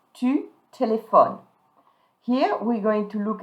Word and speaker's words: téléphones: So in tu form, you're going to say tu, and don't pronounce the E, don't pronounce the S. Tu téléphones.